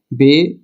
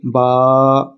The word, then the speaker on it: ب: لہجے میں ادا کریں۔ اردو تلفظ سے پرہیز کریں، یعنی بے، تے، سے، ہے، خے، توئے، زوئیں وغیرہ ہرگز نہ پڑھیں، بلکہ با، تا، ثا، حا، خا، طا، ظا پڑھیں۔ ان 29 حروف میں